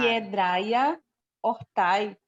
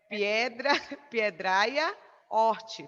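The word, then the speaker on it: Piedraia hortae: Piedraia hortai. Muito bem, que errar. Desde que você errou a primeira, você não erra mais nenhuma. É piedraia horte, tá? Esse AE, ele fica com a pronúncia de I, tá?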